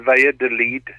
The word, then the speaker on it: Valladolid: spanish is limited as well but yeah you pronounce it via delete okay well we'll go with that right so